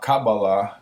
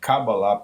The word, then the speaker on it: Kabbalah: question to myself I have downloaded a Caba cabala that's how you pronounce it cabala PDF it's a complete PDF written by a